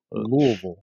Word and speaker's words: Louisville: is one of them there's an acceptable native way and that's with as little effort as possible right louisville